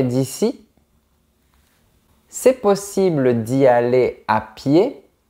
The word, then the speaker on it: à pied: c'est possible d'y aller à pied à pied signifie en marchant attention à ne pas prononcer la lettre D on dit ài si tu bouscules une